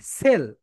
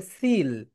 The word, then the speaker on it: sell: দেখো, the boys mast সেল, এই প্রোনাউন্সিয়েশনটা দেখে নাও, অনেকে এটাকে বলে সিল। সিল, সিল না, এটা হচ্ছে সেল।